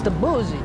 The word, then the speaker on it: Debussy: It is not pronounced Debussy. It's the boozy, Charlotte.